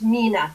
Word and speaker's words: Mina: She says she has, and I pronounced her name wrong. It's Mina. Thank you for that correction.